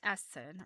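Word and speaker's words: Eason: So Theo Essen or Een, I think it's in this one. Yes, Theo, I think her name is pronounced Essen. E S O N.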